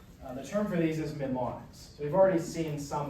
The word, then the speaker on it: mnemonic: A mnemonic is just a memory aid, or a memory technique, a method for increasing your memory. Mnemonic. So it's M and N, but the N is silent.